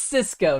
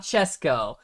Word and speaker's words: Cisco: It's Cisco, not Chesco.